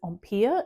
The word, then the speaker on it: empire: In America, you tend to pronounce it ampia in the French way.